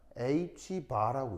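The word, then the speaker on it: ħ: 자, 이럴 때 어떻게 읽냐면 H바라고 읽습니다.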